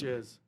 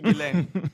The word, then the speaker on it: Ghislaine: Jiz, but it's actually Gilain.